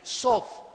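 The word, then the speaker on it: סוד: La TH en hebreo se pronuncia como una D de Daniel, sod.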